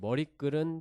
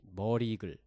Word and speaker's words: 머리글: 그리고 머리글은 표준 발음이 머리글 그냥 머리글 이렇게 읽어야 되고 이거 역시 사이 소리가 적용이 안 되는데 그 이유가 이제 이거는 순 우리말 합성어인데 합성어에는 사이 소리가 적용이 되는 사례들이 있긴 하지만 네. 이제 뒤 마지막 발음이 마지막 음절이 된 소리가 나지 않고 니은 미음 앞에서 뭐 니은 소리가 덧나지 않기 때문에 그냥 머리 글 이렇게 읽어주면 된다고 해요.